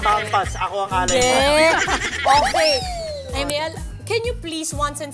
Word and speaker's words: Amiel: Okay, Amel, can you please once and for all just tell us how you pronounce your name? Is it Amiel or Amiel? Well, yung usual talaga na pronunciation is Amel ba.